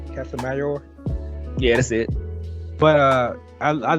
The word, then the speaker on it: Casimero: Can I pronounce the name? Casimero?